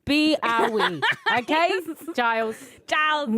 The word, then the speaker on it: B-ahwe: But everyone just says "bog." Oh my goodness! It's B-ahwe. It's like separated.